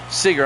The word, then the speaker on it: Seager: a strike I think Seager he's still a current player I believe here's the 01 up high one and one Seager I'm sorry like Bob Seager thank you Evil Dead